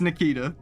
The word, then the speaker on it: Nikita: It's the strongest is that how curative you say spell that? above Cura, Curaga, and Curaja. I see. Yeah, it's It's Nikita.